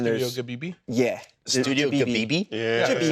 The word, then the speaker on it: Ghibli: Studio Ghibli? Yeah, that's how you pronounce it.